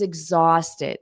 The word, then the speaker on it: exhausted: I was exhausted. So our 2B exhausted. Notice the pronunciation of this ed is ID. Exhausted. But you have to add that t. So it sounds like tid.